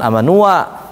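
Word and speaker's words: آمنوا: akhirnya baca kayak tulisan amanu, ada alifnya di atas sananya. Cuma nanti dikasih bulatan. Jadi bacanya bukan amanua, tapi amanu. Jadi alif tidak berfungsi saat ada bulatan ini.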